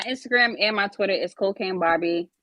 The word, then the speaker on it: Kocaine: It's just like it's spelled right here, right? Mm-hmm. No dots, no nothing, right? It's Kocaine.Barbie with a 3. So Kocaine, Kocaine dot Barbie, Barbi.